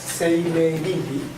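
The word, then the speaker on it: 生命倫理: So it's pronounced Seimei Rinri.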